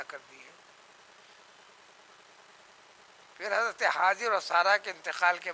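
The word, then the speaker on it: هاجر: ہیں۔ حضرت حاجر سے، جو ہم آپ لوگ حاجرہ کہتے ہیں، صحیح صحت تلفظ حاجر ہے، وہ عربی لفظ نہیں ہے۔ ان سے پیغمبر اسماعیل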